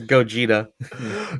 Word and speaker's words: Gogeta: super go get it did i mispronounce it it's gogeta gogeta is this